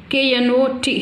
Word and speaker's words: knot: K-N-O-T here, K is the silent, knot.